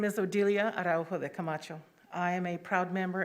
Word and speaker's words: Odilia Araujo de Camacho: My name is Odelia Araujo de Camacho. I'm going to spell it for you.